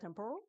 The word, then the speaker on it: Temporal: Now, we want to thank our event host uh Temporo. And uh did I say it correctly? That's the way, right? Temporal, right?